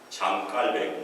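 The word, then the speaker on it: Jean Calvin: 그리고 요한 칼빈, 존 칼빈, 장 깔뱅, 원래 프랑스 사람이니까 장 깔뱅이 훨씬 더 바른 그런 발음인 것 같아요.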